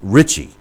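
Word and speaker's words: Ritchie: the answer is Willie richy uh which is pronounced Richie uh r i t c h IE and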